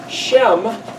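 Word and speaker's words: שם: other interesting thing this very same word is pronounced Shem which is also named Fame renown and reputation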